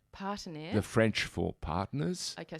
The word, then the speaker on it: Partenaire: You're talking about Di's business called how do you say Partenaire. Partenaire.